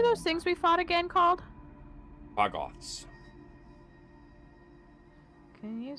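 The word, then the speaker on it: Quaggoth: things we fought again call Bots can you spell that q a g g o t h like quag and Goth put together sick um can I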